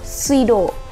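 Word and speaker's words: 水道: Kanji di atas itu dibacanya pilihan jawaban yang kedua, suido, yang artinya saluran air gitu.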